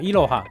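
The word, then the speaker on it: いろは: 伊吕波，伊吕波的日文发音就是念作伊罗哈。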